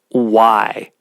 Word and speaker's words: way: that the Mayans call why w-a-y but it's pronounced w-h-y and why is this